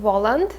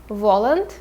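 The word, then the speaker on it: Воланд: So the first character we have is the Satan, and in the book he's called Voland. We just basically say Voland. Volan.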